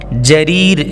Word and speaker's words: جریر: جریر جیم سے ہے, جریر.